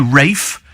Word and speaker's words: Ralph: this at all uh Ralph Richardson was also Rafe it's quite Posh like